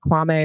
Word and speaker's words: Kwame: really like to know if it's kwami or kwam like every it seems like Kwame is like the correct pronunciation of it but he continually says kwami so it's kind of confusing but like her Micah